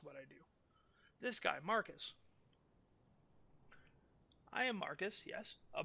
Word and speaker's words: Marcus: Final Fantasy, and so I thought Marcus was pronounced like Marquois or Marquis or something like that. But no, I looked up the pronunciation, and it's just Marcus.